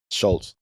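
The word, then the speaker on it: Schulz: Schultz. Yeah, they Oh I think yall told me I learned. Yeah, he was just on FL. Andrew Andrew Schultz.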